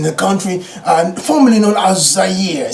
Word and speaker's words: Zaire: I actually spelled it for them, and they couldn't pronounce the name. I said, yes, Zaire. I believe there's also a former NBA player, one of his children actually called Zaire as well. So it's Zaire, and it's a beautiful country at the very